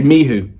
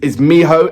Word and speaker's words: Miho: I used to say miho, and now I'm being corrected. Is miho as the way how I say momo, and so thank you very much for correcting me on that.